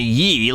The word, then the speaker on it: Ye: It's obviously Yee, like Yeezy.